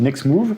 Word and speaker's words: NextMove: nous avons mauve nexmo aujourd'hui on dit next move mais ça s'écrit une explose en anglais